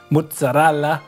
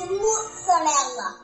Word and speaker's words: mozzarella: While we all know world-famous Italian products like Ferrari and Lamborghini and mozzarella. It's mozzarella. If you don't know how to say it, don't say it at all.